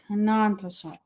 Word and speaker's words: Tenontosaurus: Not theosaur. Tenantosaurus.